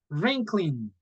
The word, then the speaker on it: wrinkling: this is swirling and wrinkling remember W is not pronounced here so you you will not say green clean but only wrinkling Berlin okay so again